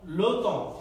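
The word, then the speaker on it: le temps: উল্লেখ্য যে এখানে এই পিএস এর উচ্চারণ হচ্ছে না, উজ্জ্ব থাকে। যখন এই পিএস থাকবে কোন শব্দের শেষে, সেটার উচ্চারণ উজ্জ্ব থাকবে, দেখো বলা।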